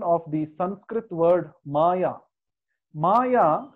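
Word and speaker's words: माया: Maya has two syllables.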